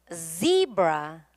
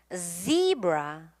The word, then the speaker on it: zebra: 같이 해 볼게요 자 소리부터 자지지 zebra zebra 진동음이 느껴지게 다시 한번 zebra zebra 다음도 husb 진동은 역시